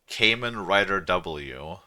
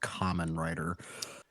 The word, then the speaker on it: Kamen Rider: Mentioned in the previous that reminds me of Kamen Rider W. What is that? What is that? Frost, what is Kamen Rider W? I think it's pronounced Common Rider.